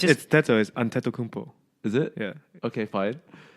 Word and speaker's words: Antetokounmpo: Okay, how do you pronounce it? Giannis Antetokounmpo, is that right? Maybe not. Antetokounmpo. Okay, whatever. It's Antetokounmpo.